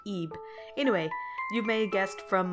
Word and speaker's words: Ib: I've learned that it's not pronounced tube it's pronounced EEP anyway you may guest from my multiple references